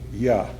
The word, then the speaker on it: Yah: this borrowing because it might have led the synagogue reader to make a mistake and pronounce the first syllable of the sacred name, namely hyphen Y-A, Yah.